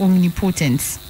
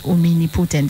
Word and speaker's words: omnipotent: leaders use it right so it's wrong if they're pronouncing it as omini putin that's something like women